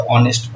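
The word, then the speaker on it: honest: जैसे मैं बोलता हूँ, मुझे बताओ ऑनेस्ट मैन, क्या बोला?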